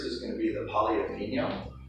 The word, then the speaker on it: tagliatelle: How was that pronounced? Tagliatelle.